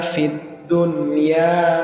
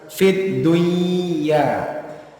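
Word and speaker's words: فِي الدُّنْيَا: yang ke-15 itu fohibuma Fid Dunya maufah ada nun sukun bertemu dengan ya tetapi kita membacanya jelas nunnya itu bukan fiduya sebagaimana kalau nun sukun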